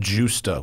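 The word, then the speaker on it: Gjusta: venice there's a place called justa which is spelled gj usta and it's a it's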